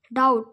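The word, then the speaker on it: doubt: উচ্চারণ অর্থ বি ও MB bomb bomb ইয়াতে উচ্চারণ দেওয়া আছে বোম মানে বোমা টিট বিট উজ্জ্ব হব ডি ও ইউ বি ডি ডাউট ডাউট ডাউট এর মানে হবে সন্দেহ কম কম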